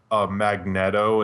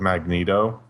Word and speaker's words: Magneto: That's like the people who say like Magneto instead of Magneto. Magneto.